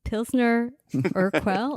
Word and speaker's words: Pilsner Urquell: So today, Patrick in Prague is drinking Pilsner Urquell.